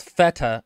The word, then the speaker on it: Fetter: The main character in the audiobook is called Feta, and it's spelled Fetter.